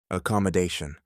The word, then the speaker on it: accommodation: There are five syllables in accommodation. They are a com mo day, shown.